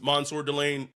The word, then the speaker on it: Mansoor Delane: One, his name should be pronounced correctly. I'm not disputing that. His name is Mansoor Delane.